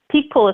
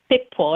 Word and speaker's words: Picpoul: Picpoul or Picpoul. Picpoul is how they pronounce it in France, but Picpoul is how we would say it here in the States.